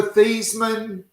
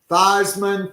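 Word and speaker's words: Theismann: It is maybe it's kind of like uh Joe Theman changed his pronunciation of his name to Thyman for Heisman when he was at Notre Dame.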